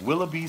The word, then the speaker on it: Willoughby: And the reason she taught us how to say her last name, because she said, it's like Willoughby sting you.